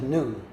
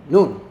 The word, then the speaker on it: Noon: But spelled N-O-O-N, like 12 o'clock lunchtime. I just chose that because it look cute. Actually, it's if you spell it Thai alphabet, it be a short vowel.